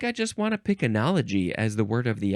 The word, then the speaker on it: enology: just want to pick anology as the word of the episode um enology is technically the right way to say it uh be just because